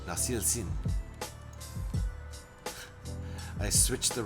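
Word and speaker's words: Nasılsın: Nasil Sin. Nasil Sin. I switched the wrong ones, didn't I? So you said it right the first time and forgot the S the second time.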